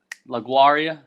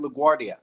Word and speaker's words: LaGuardia: Did you fly out of LaGuardia? LaGuardia? LaGuardia. Like it's spelled LaGuardia, but like I think it's actually pronounced LaGuardia.